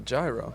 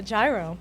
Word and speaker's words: gyro: gyro exactly it's a gyro that that's what everyone's been saying it's gyro I agree don't worry because there are no wrong answers the official pronunciation is like the European money hero but since this is